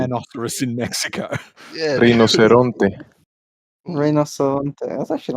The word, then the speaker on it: rinoceronte: Yeah, Rinoceronte.